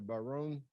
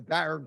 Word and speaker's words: Barron: students to receive the Barone Prize, sorry. Barone Prize we give at ASU. This is the Barron Prize. I got to get the pronunciations right here.